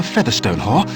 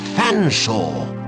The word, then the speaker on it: Featherstonehaugh: F silent E A silent T silent H silent E silent R S silent T silent O N.